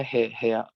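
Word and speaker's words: 部屋: Oke, ini bacanya hea.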